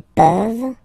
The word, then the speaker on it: peuvent: Vous pouvez, ils peuvent, elles peuvent. Okay, as usual, this ending, this ENT ending, you write it, you don't pronounce it.